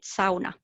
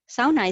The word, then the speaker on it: sauna: many people know that it is actually a finnish word and we pronounce it sauna sauna is dating thousands of